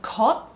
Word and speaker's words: 것: The 것, he pronounces it as 굿, which I think is